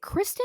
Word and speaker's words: Kirsten: Like, uh, is it Kristen or I Kirsten think it's Dunst? Kirsten, like because it's spelled Kirsten? K-I-R.